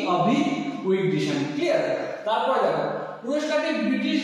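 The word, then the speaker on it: Avi Wigderson: ইসরায়েলের গণিতজ্ঞ কি আভি, দেখো বানানটা ইংরেজি বাংলা বানানটা কিন্তু তোমরা দেখবে, ব্যাপার হচ্ছে আভি উইগডিশন, তাই তো দেখো বা এখানে উইগডিশনটাই কিন্তু তোমাদের উচ্চারণটা হবে। ঠিক আছে? আভি উইগডিশন, তাই তো এটা তোমরা উচ্চারণ করবে আভি উইগডিশন।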